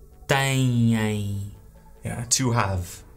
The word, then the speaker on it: têm: And the verb right there, it's pronounced têm.